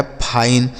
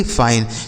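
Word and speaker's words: fine: एन ई से न, लिखा गया है फाइन, एफ आई एन ई फाइन। तो आई अगर लिखा हो और उसी शब्द में उस एक अक्षर के बाद अगर ई लिखा हो तो आई का उच्चारण आई हो जाता है।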